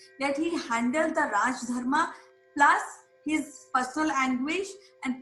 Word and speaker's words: dharma: In Pali language, dharma is pronounced as Dhamma, Dhamma.